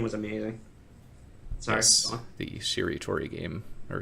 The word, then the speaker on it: Shiritori: Yes, the Shiritori game, or Shiratori. I don't know how to pronounce Japanese things. Shiritori. Nobody does. Shiritori.